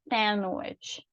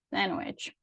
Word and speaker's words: sandwich: Então, em inglês, se você perceber, tem muitas palavras em que alguma letra ali, ela não é pronunciada, é uma letra que a gente considera como silent, né? Muda, silenciosa. Então, a gente não pronuncia. E é o caso de sandwich, sandwich, ok?